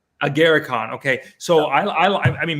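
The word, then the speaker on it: Agarikon: I am I saying that right yeah okay agaricon agaricon okay so I I mean me personally I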